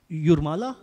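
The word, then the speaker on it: Jūrmala: So that's why maybe in uh I'm not sure if pronouncing correctly. It's Yurmala. Yes.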